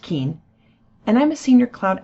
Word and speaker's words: Keane: name is keane yes it's pronounced keen and i'm a senior